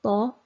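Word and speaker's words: ظ: pronouncing the letter so the letter name is though and the phonetic sound is also though the thought shares its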